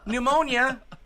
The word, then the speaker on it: pneumonia: How would you spell it? N-O-M. S-I-C-K. Okay. Yeah. Well. Okay. Pneumonia begins with the letter P.